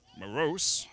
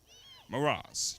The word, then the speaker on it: Moraz: That is Morose. Actually, that's not how you pronounce his name. Moraz.